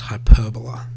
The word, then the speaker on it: hyperbola: sometimes called this uh word here which is pronounced hyperbola you might remember that quadratic functions are sometimes